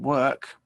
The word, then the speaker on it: work: the letters or but it doesn't have an or sound it's pronounced with the er sound so um once again